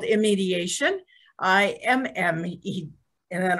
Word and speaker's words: Immediation: um a platform called eye mediation am i pronouncing that correctly we we call it immediation but a lot of people well natalie can